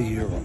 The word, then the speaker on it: gyro: how do you say is it gyro or euro it's a euro all right if you